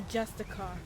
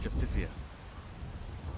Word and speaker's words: Justicar: He's a Justicar, a Thalmor. It's pronounced Justicia.